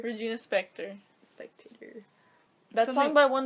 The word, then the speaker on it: Regina Spektor: something by her a virginia spectator she's like inspecting it doesn't even make sense how do you say it inspector regina spektor spectator that's talking by